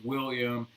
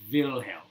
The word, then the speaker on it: Wilhelm: it in english it's william but if you're saying it in german it's wilhelm wilhelm the first all